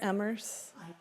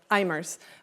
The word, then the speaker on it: Eimers: And for um the appellent and is am I pronouncing it right? Emmers. Immers. Um for Mr. Immers, we have Pam Walker.